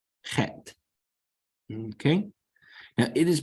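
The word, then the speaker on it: חית: Next, you have Het. Het. Okay, now it is pronounced with a guttural sound that you can make in the back of your throat, very much like the more proper pronunciation of the German Bach.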